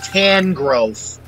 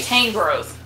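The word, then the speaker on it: Tangrowth: that way that's interesting it sounds better than tan growth i say tang growth okay i don't know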